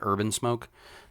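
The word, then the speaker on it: Herb N Smoke: He owns a food truck called Herb and Smoke, like HERB, N, the letter N, Smoke, pronounced like Urban Smoke.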